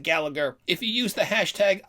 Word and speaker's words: Gallagher: That's spelled like Gal-laugh-er, but I pronounce it Gallagher.